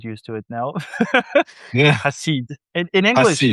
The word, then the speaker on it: Hassid: Yeah, Hasid. In English, Hassid. it's not. It's Hasid. In Hebrew, you say Hasid. French say it differently. I'm from everywhere, so everyone do it wrong, and that's okay. It's Hasid.